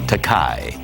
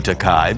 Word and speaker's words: Takei: They want to give it the Germanic pronunciation, like Einstein, Takei. Because you're smart? Well, if they're smart, they'll call me Takei because that translates into English as expensive.